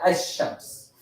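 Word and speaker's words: الشمس: The other Ash-Shams, these letters, you say and you don't say the lam and you mix them and say Ash-Shams.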